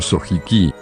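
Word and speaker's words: 正直: Y es que simplemente esto no hace referencia a un nombre, sino a un mensaje, pues los primeros dos caracteres kanji se leen como sojiki, que significa honestamente o verdaderamente.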